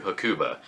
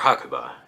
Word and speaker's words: Hakuba: about to head to hakuba uh or hakua is probably the more accurate pronunciation apparently this weekend the